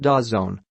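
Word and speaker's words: DAZN: an aggressive offer for da ZN pronounced das zone when he met with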